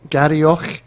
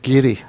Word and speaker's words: Garioch: It'll be Gary Grapevine. What's it? Garioch. Is that wrong? Yes, pronounced Gary.